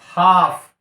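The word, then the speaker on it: half: आ रहा है और एल का उच्चारण हमको नहीं करना है तो डायरेक्ट आप कीजिए ना एल को छोड़ दीजिए एच ए एफ हाफ ठीक है और नेक्स्ट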